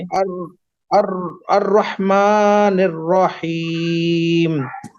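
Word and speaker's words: الرحمن: अर्रह मालिकी यौमिद अर्रहमानिर रहीम, रा को मोटा कीजिए। अर अर अर्रहमानिर रहीम।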